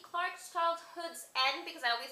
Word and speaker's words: Childhood's End: Clarke's Childhood's End, because I always say it wrong. I always say Childhood End, but whatever.